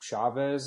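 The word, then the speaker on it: Chaves: This one was directed by Michael uh I think Chavez is how you say his name.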